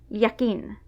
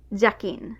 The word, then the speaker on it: jakin: have this phlegmy but in Basque, J also often sounds like y, yakin. A few speakers even pronounce it like j, jakin. But if you end up saying hakin, that's legitimate too.